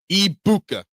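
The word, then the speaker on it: Egbuka: Uh, Abu, so the G's are silent. So it's Ibuka. So the G is silent. Um, Ibuka. Ibuka. So that was close. Eggbuka.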